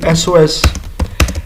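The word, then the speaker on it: SOS: ऐसा वर्ड है कि एस ओ एस अभी देखें एस ई ई एस तो ये बेसिकली जो स्टार्टिंग है वो जाहिर है कि इसकी वोवेल साउंड से हो रही है एस ओ एस तोकि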